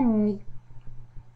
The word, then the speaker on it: nid: À la fin du mot, comme dans un nid, court, puis, ici, les lettres finales ne se prononcent pas.